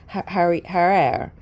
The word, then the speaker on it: Harare: So basically, this, I want to pronounce the town right. So, I guess, let me see. Here we go. Harare. Thanks, girl.